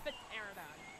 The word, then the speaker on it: pterodon: Craigan said, "Laney, the P is silent." No, I've always called him a pterodon.